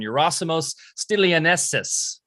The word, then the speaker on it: Yerasimos Stilianessis: an extraordinary body-mind practitioner sophie fletcher phd and eurosimos stelianessus did i say it right yeah you did